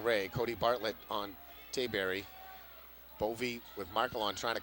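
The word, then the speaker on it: Bowe: play by bovee movie spells the name b-o-w-e but it's pronounced bovee that's four on marcelo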